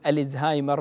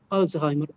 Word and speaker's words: ألزهايمر: إيه بالضبط، المكتشف هو ألماني اسمه أليوس ألزهايمر. الـ هذه ما هي آل التعريف العربية، اسمه ألزهايمر بالشكل هذا. فنطق الزهايمر نطق صحيح.